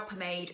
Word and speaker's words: pomade: talk about this brow pomade and I'm actually saying it right this time I always say perm and don't ask me why pomade Kat Von D